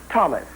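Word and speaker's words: Tomas: Thomas. That is my name. You will notice it is spelled T-O-M-A-S without the silent H, but it is pronounced as if the H were silent.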